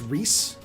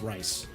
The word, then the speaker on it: Rhys: I think it's pronounced Reese. I don't think it's pronounced Rice.